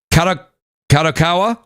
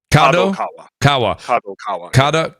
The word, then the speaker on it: Kadokawa: I'm going to say it wrong, but Kadokawa. Am I saying it right? Kadokawa. Kadokawa.